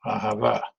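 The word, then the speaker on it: אהבה: and it means love Ahava right and remember if you're trying to do the correct pronunciation if you try to emphasize the last syllable nine times out of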